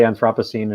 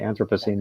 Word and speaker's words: Anthropocene: own making that's human the British say Anthropocene and we say Anthropocene we haven't even figured